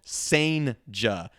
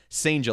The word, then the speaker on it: Cijntje: Pronunciation, official, Cijntje. Cijntje, like staying sane, added J at the end.